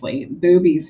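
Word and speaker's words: Bube's: Boobies Brewery in Pennsylvania. I never heard that. It's spelled B U B, but it's pronounced boobies.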